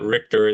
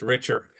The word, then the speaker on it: Richer: Sorry, I was pronouncing his name wrong. It's not Richtor, it's Richer.